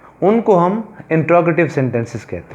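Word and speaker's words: interrogative: इंट्रोगेटिव sentence से क्या मुराद है, इसको मोस्टली स्टूडेंट्स क्या प्रोनाउंस करते हैं, वो कहते हैं इंटेरोगेटिव, but this is इंट्रोगेटिव sentence. Again I am pronouncing it इंट्रोगेटिव sentences, यानी इसको उर्दू में हम सवालिया फ़िक्रे कहते हैं, सवालिया फ़िक्रे।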